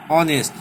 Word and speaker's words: honest: elephant, an hour, an honest person. All those words beginning with a vowel sound and we are using an, not a. These two words say honest, hour. Okay, first H is silent and the pronunciation is honest, not honest.